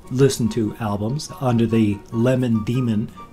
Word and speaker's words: Lemon Demon: he chose lemon demon because it's spelled the same but each word is pronounced and it's different you know Iman Iman lemon demon so you kind of stumble over it when looking at it that's the kind